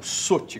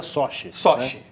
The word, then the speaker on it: Sochi: para pessoal paraas redações eh eh sugere a pronúncia como Soti comoesse o e a gente no nosso Russo castiço dizia sochi tá bom desculpem caros telespectadores soi examente soosi